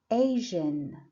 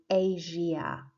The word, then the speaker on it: Asia: Number 5, Asia, Asian. So it's like you don't say Asia, yeah? No, you say Asia, Asian.